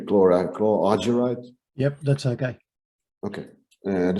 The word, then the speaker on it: chlorargyrite: I don't know exactly how you pronounce it in English, but I would say chlorargyrite.